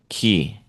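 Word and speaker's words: 気: Key, not chi, but key. Well, cuz that's the Japanese pronunciation of chi. It's key.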